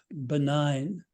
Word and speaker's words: benign: dictionary and look up benign it's already the most beautiful word in the English language but with that silent G that way of Landing without ending it sounds as if it alighted from another tongue perhaps French dropped in for a